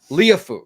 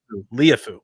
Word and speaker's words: Liufau: Marist I'm going to make sure I get it right. Liufau, correct? Well done. Well done. Yeah, I'm saying this like I've ever pronounced it correctly, but yes, I think that is Liufau.